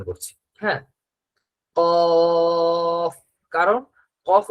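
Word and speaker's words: قاف: তো কাক যেমন ভাবে ডাকে অ অ, ওই যে কাক যে ডাকে, সেই কাকের ডাকের উচ্চারণটা, মনে করেন কাক এই কফ দিয়েই ডাকে।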